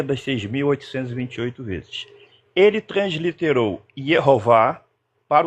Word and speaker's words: Jeová: Então, ele transliterou Yehová como graficamente escrito, digamos assim, Jeová, mas a pronúncia alemão não é Jeová, é Yehová.